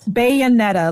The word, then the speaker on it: Bayonetta: spell it for me bed like a bayonet Bayonetta let me type it